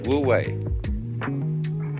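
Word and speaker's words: wu wei: and so the Taoist manner of life is woo way Don't Force It always go with the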